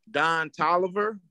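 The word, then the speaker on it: Don Toliver: Don Tolliver. The rapper. Am I saying it wrong? No, that's his name.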